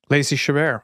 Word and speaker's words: Lacey Chabert: Lacey Chabert? Lacey Chabert.